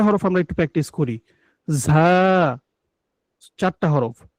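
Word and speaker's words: ز: আচ্ছা, এরপর দেখুন ঝা। ঝাটা হচ্ছে জিহ্বার আগাটা নিচের দাঁতের পেট ও আগার সঙ্গে লেগে উচ্চারণ হবে ঝা।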